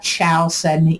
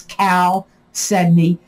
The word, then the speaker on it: chalcedony: march 2021 you got cal sedney i am pronouncing it right it's not chow sydney it's cal sydney and the way you